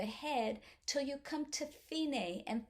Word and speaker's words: fine: till you come to finae and fine sounds like finnish or in spanish it's fien the end that finney right here